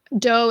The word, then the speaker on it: Doe: It is called The Future, and that is spelled Futur with Chris Doe, and it's Doe is Do.